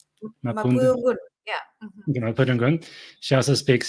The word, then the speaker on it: Mapudungun: How do you pronounce it correctly? Mapudungun, yeah.